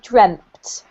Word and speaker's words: dreamt: Just because the pronunciation for example, this is actually dreamt rather than dreamed, okay?